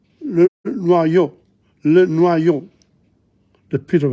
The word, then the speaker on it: noyau: Le noyau, le noyau, le noyau. The pit of a fruit. Le noyau. The I-U is O. O-Y is wa, noa, noyau.